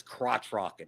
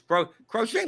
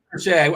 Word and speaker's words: Crochet: And by proxy, also Crochet Like in 150 lineups that I've run, I have 0 crochet, or someone says crotch rocket. It's crochet, like the knitting. It is crochet.